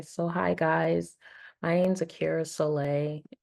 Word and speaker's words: Aqiera Solai: My name's Akira Soleil. It's hyphenated, but on social media, obviously, it cannot be hyphenated. So on Instagram, it's Akira Soleil. It's AQIERA SOLAI. It's pronounced Akira Soleil.